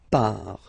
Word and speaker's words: pars: So final S not pronounced, je pars.